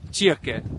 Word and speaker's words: kyrke: By the way, I talked to someone, the way to say church in Bornholmsk is kyrke. In Danish it's kirke, in Swedish it's kyrka, so Bornholm right in the middle is kyrke. It's like right between Danish and Swedish.